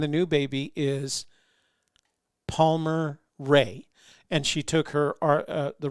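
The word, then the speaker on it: Rae: But Laura, my ex, wanted her name to be Erica, but we named her middle name is Ray, R-A-E, and then Toby Renee, of course, is Toby Renee.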